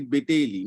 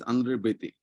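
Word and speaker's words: André Béteille: In if I pronounce, so for English language is concerned, that is Beteli. No, he's a French, and fortunately his mother was a Bengali, and he was a renowned Indian sociologist, where he taught in the professor of sociology in Delhi University. Andre Bete. The correct pronunciation is Andre Bete.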